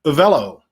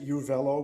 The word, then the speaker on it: Avello: is that correct well actually that is correct but but i mispronounce it i i was like it could be it could be any number of things it it could be it's i i pronounce it you velo but uh actually your pronunciation is the correct pronunciation so there you go